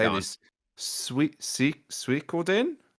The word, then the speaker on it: Suikoden: Suikoden? Suikoden.